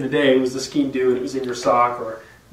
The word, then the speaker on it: Sgian Dubh: Then there's also the Sgian Dubh, which is theoretically a knife. This is a horrible version that I thought was an actual knife and is not. They call it the safety Sgian Dubh.